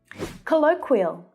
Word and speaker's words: colloquial: Colloquial. Colloquial. That's another tricky consonant cluster, that k.